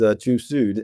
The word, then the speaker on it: TÜV Süd: Yes, and you are pronouncing correct. It is TÜV Süd.